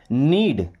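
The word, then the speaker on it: knead: नीड यहां पर के साइलेंट होगा।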